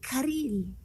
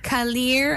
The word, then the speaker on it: Karylle: Me Karylle. Karylle. It sounds so Spanish. Karylle. What's the typical mispronunciation of your... Kalir, I've gotten Kalir. Camille, I get a lot.